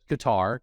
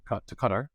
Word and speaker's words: Qatar: Some pronounce it Qatar, Qatar, but my friends who live there all made me change the way I say it to Qatar.